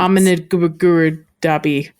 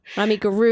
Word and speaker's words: amigurumi: Accent on the ru. Amigurumi.